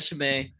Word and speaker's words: Chimay: you get so uh i got shimay um uh she's really good um not spelled like it sound c-h-i-m-a uh i think it's